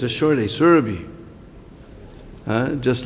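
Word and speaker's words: Surabhi: thing to notice here the a in in survey is a short a it's not a long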